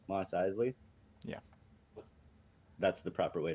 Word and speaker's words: Mos Eisley: eisley con cantina am i saying that right mos eisley yeah that's the proper way to say it